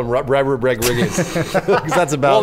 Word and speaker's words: Rodriguez: I like that you call him Rodriguez. Because that's about. Well, that's how it's pronounced in Spanish.